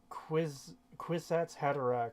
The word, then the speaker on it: Kwisatz Haderach: I know all words are made up, but Kwisatz Haderach rhymes with knick-knack paddywhack, and we should all laugh at that.